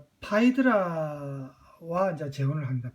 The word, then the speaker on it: 파이드라: 크레타의 왕 미노스의 딸 파이드라와 이제 재혼을 합니다. 파이드라 이름에 이제 파이드라 60년대 히트 쳤던 영화 죽어도 좋아 때문에 우리한테는 페드라라는 영어식 발음으로 보통 알려진 페드라라고 알려진 이름이 이제 여기서는 파이드라인데 아버지만큼이나 그 늙은 테세우스에게 시집을